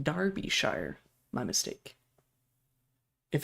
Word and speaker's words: Derbyshire: he did shoot him illegally so Derbyshire is pronounced Darbyshire my mistake if it's if it's a shire